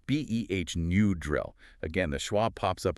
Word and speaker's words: Benadryl: But in Benadryl, the Y represents a short I sound, like in drill, so it's B-E-H, new drill.